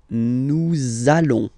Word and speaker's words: allons: the words, so it does mean that you will have to pronounce this z sound. Okay, listen to me. Nous allons.